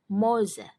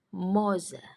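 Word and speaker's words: morze: yang pertama tulisannya morza Tapi kalau dalam bahasa Polandia tadi kan kalau ada RZ r-nya enggak dibaca jadi cara membaca yang benar adalah moze moze Oke lanjut ke bagian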